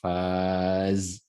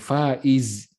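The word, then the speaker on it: فاز: faqad Faz ya bukan Faiz ya bukan Faiz ya ya Faiz itu juga pemenang Faiz ya ya kalau Faz ini bentuk sarf yang lain pilihan yang memberikan rasa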